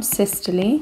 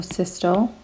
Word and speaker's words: systole: main events number one systole or systole and number two diastole or diastole it's completely up to you how you pronounce it but what do these